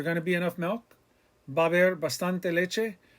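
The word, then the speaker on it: va a haber: Remember, it's va haber. 2 syllables, va haber. The a and ba, the a in the middle, the h is silent, the beginning of haber with the a, it all runs together.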